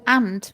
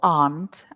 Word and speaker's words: aunt: MH uncle and with ant we didn't write it there but often ant or Aunt as um Craig pronounces it sometimes we make a